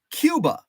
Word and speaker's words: Cuba: was a town spelled c-u-b-a Cuba according to this Bureau Journal Star article it's pronounced Cuba The Fulton County City mirrors the Spanish not English pronunciation of the island nation this is the first